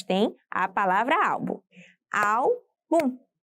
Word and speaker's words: álbum: Álbum. Nossa, só tem 2 sílabas. Bom, álbum está destacada. Portanto, você já sabe qual é a sílaba tônica. Será au, pois tem um acento agudo.